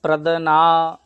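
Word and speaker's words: প্রজ্ঞান: কি হবে জুক্ত ইয় এই শব্দটি দ যুক্ত ন্যা উচ্চারণ হবে ঠিক আছে এটা শুক্ল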